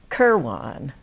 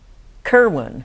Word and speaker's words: Kirwan: is uh Brian Briana keran did I pronounce that right Kerwin yes okay Kerwin and she does